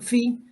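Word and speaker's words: Φ: umbral que ellos llaman con esta sigla que se pronuncia fi y que alcanzaba ese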